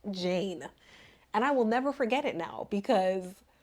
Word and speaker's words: Jane: Y'all, I kept calling her Janae. That ain't her name. It is pronounced Jane.